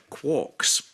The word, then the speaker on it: QOCS: In cases where qualified one-way costing shifts, QOCS pronounced QOCS, Well, not by me.